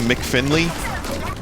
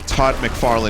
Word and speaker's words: Todd McFarlane: want to read it so he called him mick finley and i was like dude it's actually todd mcfarlane he's like i i